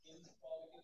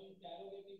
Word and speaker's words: interrogative: करें तो नाम का, अच्छा इसको हम बहुत ज्यादा गलत प्रोनाउंस करते हैं, हम इंटेरोगेटिव कह देते हैं। इंटेरोगेट करना तो पूछगिछ करना होता है ना जी, तो वो सही प्रोनाउंसिएशन जो इसका होता है वो क्या होता है, इंट्रोगेटिव।